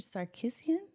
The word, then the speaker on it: Sarkissian: house you got to tell me if I'm pronouncing your name correctly or incorrectly Richard sarisan perfect absolutely perfect it's a win look